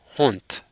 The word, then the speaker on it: hond: these words where the the letter D that it ends with is pronounced as a t but in the plural